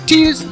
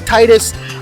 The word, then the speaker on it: Tidus: They could say his name is Tidus, you could say his name is Titus. It doesn't really matter, but I'm going to call him Tidus.